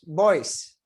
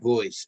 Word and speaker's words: Boyce: that's okay john uh actually it's pronounced voice voice and the reason i'm